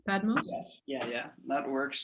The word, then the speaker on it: Padmos: today with padmos is that the correct pronunciation padmos yes yeah yeah that works just fine okay